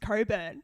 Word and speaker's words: Cockburn: 000 comments saying that it's pronounced coburn i agree can't one